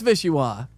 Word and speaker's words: Vichyssoise: Pronunciation. Vichyssoise. Boy, thanks, Denise. Terrible. Vichyssoise? Oh, it's Vichyssoise.